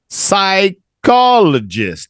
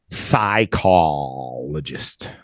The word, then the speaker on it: psychologist: learned things really good psychologist the p is silent and the H is silent let's try it one more time psychologist psychologist Milo Milo hello